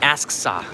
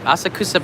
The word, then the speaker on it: Asakusa: It's not Asksa. Asksa is not how, no one says it like that. Asakusa. I can say it both ways. I pronounce it Asakusa because it's the phonetical